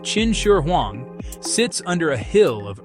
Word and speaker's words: Qin Shi Huang: The tomb of China's first emperor, Qin Shi Huang, pronounced Chin Shur Huang, sits under a hill of earth and time.